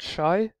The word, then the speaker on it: Shai: agricultural place okay so the first one we say is called Shai sh as a an sh that's just as simple as this just a sh a sh sound if you're familiar with